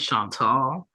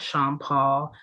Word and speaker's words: Chantal: time pronouncing tall c h n t a l not sha Paul not Chanel not Shantel okay it's shant tall I've been correcting people